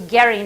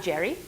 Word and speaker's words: Gerry: of so Elbridge Gerry he was Garry not Gerry some somewhere along the line the pronunciation changed but Elbridge Gerry was